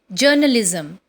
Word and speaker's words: journalism: So, the next word which we are going to learn today is Journalism, pronounced as journalism. In this, again, R is silent.